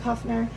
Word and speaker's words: Kufner: check this company out, Kufner. I'm saying that correctly, right? Yep. It's a new company, so I want to make sure I say it right. But Kufner Yachts USA.